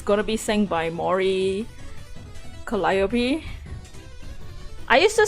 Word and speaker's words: Calliope: It's gonna be sang by Mori Calliope. I used to say Calliope like Calliope.